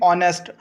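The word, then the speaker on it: honest: अगर हम बात करें जैसे कि ऑनेस्ट, यहाँ पे जो एच है वो हमारे पास साइलेंट होता है तो हम यहाँ पे एन का यूज़ करते हैं। क्यों? क्योंकि जहाँ एच साइलेंट होता है वहाँ भी हम एन का यूज़ करते हैं।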